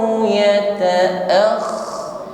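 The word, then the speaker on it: يَتَأَخَّرْ: Ayyataqaddama aw yata'akhkhar, huruf kha bertasydid, ditekan membacanya, tapi suaranya tidak boleh putus, tidak boleh habis, tidak boleh disentak, karena sifat huruf kha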